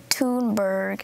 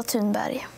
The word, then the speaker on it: Thunberg: Sometimes it's Thunberg, sometimes it's Thunberg. But I think it's funny that everyone pronounces it differently, so that is just, I don't mind anyone pronouncing it wrong. There's no wrong way to pronounce it. Everyone pronounces it in their own way.